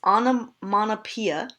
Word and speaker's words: onomatopoeia: with theme is as well refrain this is pronounced onomatopoeia I know it doesn't make any sense but that's how it's pronounced onomatopoeia alliteration rhyme assonance and yes that is asked